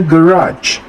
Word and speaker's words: garage: Tulisannya garage, bacanya garage.